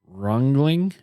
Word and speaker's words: Ringling: It's Ringling. It's German, French-German. They were the son of a French-German immigrant.